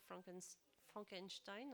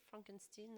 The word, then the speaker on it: Frankenstein: Alors, l'extrait, il se passe au moment où, bon, pour ceux qui connaissent un peu l'histoire, donc le docteur Frankenstein en français, Frankenstein en prononciation anglaise.